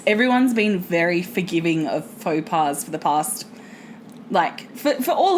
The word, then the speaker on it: faux pas: No, but what I've found overall is everyone's been very forgiving of faux pas for the past, for all of it, really. It started with Rhubarb Gate. Faux pas? Oh, sorry, Fox Pass.